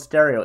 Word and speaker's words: Pstereo: It's called Pstereo. It's spelled with a P.